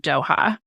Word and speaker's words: Doha: And how do you pronounce it? Doha, Qatar.